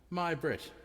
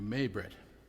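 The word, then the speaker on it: Mai-Britt: New Orleans Christine and my Brit which I understand I was pronouncing your name wrong I was calling you may Brit but it's my Brit Ah that's a great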